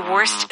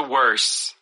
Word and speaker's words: worst: Including myself, will say if worst comes to worse, we don't put the T on there.